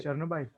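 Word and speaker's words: Chernobyl: और चेर्नोबाइल। हाँ, चर्नोबाइल कहते हैं, फिर क्या उसे कोई और प्रोनाउंसिएशन में भी बुला सकते हो आप।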